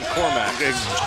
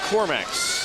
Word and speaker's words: Korkmaz: Now, you said that 40 because you're waiting for me to pronounce Furkan Korkmaz. Bam. You good. Can I call him the hyphen? No. You called him, what was his name again? Furkan Korkmaz.